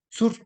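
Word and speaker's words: צור: Las letras que conforman dichas palabras son, está de Sade, de Vav y de Resh. que se pronuncia sur, ¿sí? Roca, sur, sur, ¿sí? Sur.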